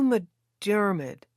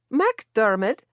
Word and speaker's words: MacDermott: "Hugh McDermott." "MacDermott," Rosie corrected my pronunciation. "Of course, that's the Mac sound," I said.